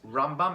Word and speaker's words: Rambam: Now the Rambam, you pronounce it that way. It's Rambam and Ramban.